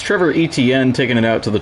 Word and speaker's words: Etienne: Sorry, Trevor Etienne. Obviously, Travis going to the Saints. They had a press conference, introductory press conference, where he said that their last name is actually pronounced Etienne.